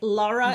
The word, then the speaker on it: Lara: the things she does and Lara right Lara is how you pronounce it perfect welcome Gail thank you we're